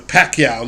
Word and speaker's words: Pacquiao: Yeah, the Pacquiao love and everything. It was sickly. Yeah. Did you know Jim Lampley mispronounced his name when he was first starting?